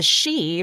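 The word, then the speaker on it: Sidhe: like race of Fay they're called the is she and the way the way it's spelled is like a o s SI I but then they call themselves The she but it's spelled s i d he e so like visually they look really different but when I say it it's like she's like we always call them the isi but it turns out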